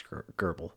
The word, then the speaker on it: GRBL: We are going to be setting up Gerbal, Gerbble, Gior PL, I don't know how to pronounce it. I think it's Gerbal, kind of like gerbble.